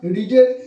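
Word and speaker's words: read: রিডের third form কি, রিড, রেড, রেড, good. কি হবে রিডের থার্ড ফর্ম? হ্যাঁ, ভালো উচ্চারণ, ওই সঠিক উচ্চারণ করেছে এটা। কারণ রিডের আমি আগেও বলেছি রিড শব্দটার উচ্চারণটা আলাদা হবে টেন্স অনুযায়ী।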